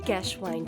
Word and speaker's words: Geschwind: Geschwind syndrome, pronounced as Geschwind syndrome, a characteristic behavioral syndrome frequently described in patients affected by temporal lobe epilepsy.